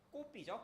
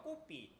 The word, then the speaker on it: kopi: 여기 발음으론 꼬삐죠. 꼬삐.